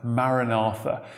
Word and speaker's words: maranatha: or oh lord come is pronounced from the original text as maranatha but this isn't the